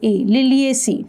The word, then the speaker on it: Liliaceae: ठहरो, spelling check करो. LILIACEAE, लिलिएसी.